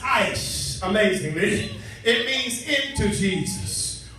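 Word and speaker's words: εἰς: From the Greek, the word says, is pronounced ice, amazingly.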